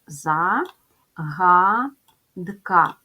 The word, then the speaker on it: загадка: звуки Отже три Склади за гадка ставимо наголос загадка падає на перший склад позначаємо приголосні звуки з